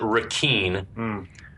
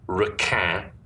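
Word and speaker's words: Requin: is he pronounces it rakeen which is spelled r-e-q-u-i-n which is the french word rakan which is the french word for shark badass yeah okay so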